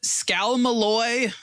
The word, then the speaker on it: Scalmalloy: The Scalmalloy, I think is how it's pronounced, is the material used to make the case.